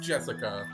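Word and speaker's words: 朱志香: this english before anyway blue blue blue is pronounced jessica she's dad's older brother's cup daughter that older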